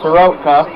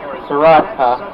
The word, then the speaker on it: Soroka: Plourd he gets an art or Soroka not Seurat so welcome our did you say his name gets an RBI Ronald Acuna jr.